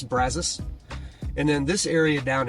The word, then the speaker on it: Brazos: College Station and again I know if we were speaking Spanish it would be Brazos but we're not we're speaking Texans so it's brazas and then this area